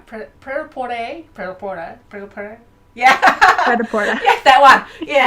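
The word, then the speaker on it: Prêt-à-Porter: Pretoporte.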